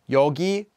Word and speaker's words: 요: remove a after them also note that the yule form is often pronounced in speech as y'all despite being written as you pronouncing you as yo sounds slightly less polite but it's very commonly